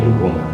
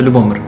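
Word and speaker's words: Любомир: Lubomir In the past, if we are going by history the village was called Stavyshche Lubomir Rey: So correctly its pronounced Loobomyrr and not Lubomir, Loobomyrr yes?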